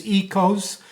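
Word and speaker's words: oikos: Basically what it means, ecos, which is spelled O-I-K-O-S, means house, and nomos means custom or law.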